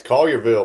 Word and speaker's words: Collierville: is here from you're going to have to pronounce that one that's collierville man all yearville okay i had to make